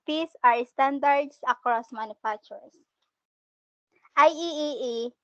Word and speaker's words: IEEE: and parts and piece are standards across manufacturers ieee pronounced ieee it stands for the institute of electrical